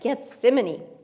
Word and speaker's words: Gethsemane: That's right, Gethsemane.